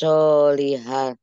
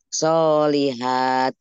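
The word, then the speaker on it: صالحات: Fitugyanihim ya Fitugyanihim ya mahun amanu wa amilus solihah. Nah, itu bacanya solihat. Tetap mat tobi'i ya. Oh, solihat.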